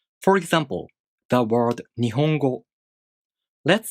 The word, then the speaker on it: Nihongo: For example, the word Nihongo. Let's say each kana takes one beat to pronounce. Then the word Nihongo takes 4 beats to pronounce. Ni, ho, go.